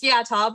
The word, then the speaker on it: Yata: Today, we're excited to talk with Yata, I believe, correct? Is that the right way to say your last name? It was close. It's Yata, but that's good.